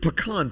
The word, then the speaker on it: pecan: If pecan pie does not show up at Thanksgiving, it's not Thanksgiving.